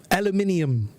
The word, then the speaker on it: aluminum: So when one of her students start talking using some American pronunciation, she's gonna blame us for mispronouncing the word. Aluminium. Aluminum.